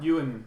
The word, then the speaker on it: Ewan: favorite because I love Ian McGregor as Obi-Wan. Ewan McGregor. Sorry, I'm sorry. I'm pretty sure he says Ian. No, it's Ewan.